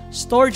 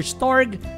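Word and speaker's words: storge: filausia or fila filautia depende kung country may lainlay na si pag-pronounce storage or storg mania or mania mga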